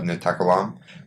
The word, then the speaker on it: NaTakallam: Sara, the co-founder of NaTakallam. Welcome to the podcast, Aline. Thank you. So what is NaTakallam, and am I pronouncing it correctly? So NaTakallam means we speak. That's what you say we speak in Arabic.